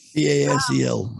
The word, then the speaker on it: Basel: BASEL. So Basel. I know, but I thought you pronounced it different than I do.